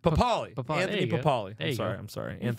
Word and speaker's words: Pappaly: But yeah, Anthony Pappaly. Thanks, dog. Did I say it right? No, but it's fine. Pappaly. How do I say it? Pappaly.